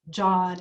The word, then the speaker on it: Jean: john anyway john j-e-a-n is pronounced john in french so i just want